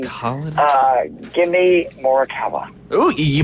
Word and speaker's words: Morikawa: Give me Morikawa. Ooh, you pronounced it correctly, did.